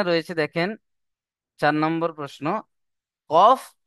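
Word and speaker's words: ك: কফ। আর calf কোত্থেকে উচ্চারণ হয়? জীবের গোড়া হতে একটু আগে এসে। তার বরাবর উপরের তালুর সাথে লাগিয়ে উচ্চারণ হয় কাফ।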